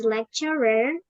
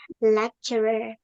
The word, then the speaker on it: lecturer: Brian is not the only English lecturer at my campus. Ingat ini bacanya ada-nya ya jadinya lecture kayak gini. Iya karena kalau lecture doang itu nanti jadi kuliahnya kayak perkuliahannya gitu ya.